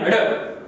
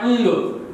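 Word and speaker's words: ङ: इसको बोल देते हैं हड़क। हड़क। ये हड़े नहीं है प्रिय विद्यार्थियों, इसको उच्चारण के माध्यम से बोला जाता है अंग।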